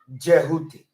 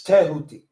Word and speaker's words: Tehuti: It's not Jehuti. Because they didn't start using the J until the 15th century. It's Tehuti.